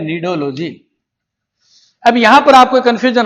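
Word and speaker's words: Cnidology: सी silent है। सी एन आई।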